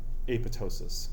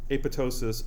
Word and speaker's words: apoptosis: Sometimes it's pronounced apoptosis without the second P being pronounced. Okay, so apoptosis or apoptosis, either one is fine.